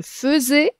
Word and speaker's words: faisais: le verbe faire je faisais attention ça s'écrit ai mais à l'imparfait on le prononce e ce verbe faire il